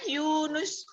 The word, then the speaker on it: Yunus: Yunus itu pakai transliterasi ya. Harusnya U-nya panjang. Iya kan, Yunus?